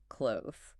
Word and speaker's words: clothes: The difficulty is that forced combination of the voiced the sound immediately followed by the Z sound for the plural.